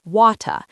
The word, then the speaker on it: water: In many British accents, car sounds like ka. Water sounds like wata.